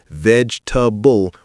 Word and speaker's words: vegetable: Not vegetable with four syllables. It's vegetable with three syllables.